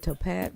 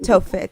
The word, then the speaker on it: Tophet: He got rid of Topath. The Topath. Tophet. Is it Tophet?